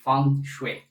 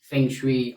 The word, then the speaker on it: feng shui: By the way, the pronunciation of feng shui is feng shui. Many people say that this is feng shui pronounced in a different way. But if we try to stick to as close as possible the ancient practices, then let us say feng shui, wind and water.